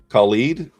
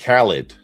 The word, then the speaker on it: Khaled: So, Khalid? DJ Khaled.